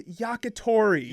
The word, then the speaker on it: yakitori: all the syllables in different orders. No. Grilled skewered chicken in Japan is yakitori.